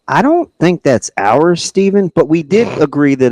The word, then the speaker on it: Stephen: the literally the reason I call say it Stephen is because it probably is literally the only person I've ever seen in my life who pronounces it Stefan is Steph Curry the only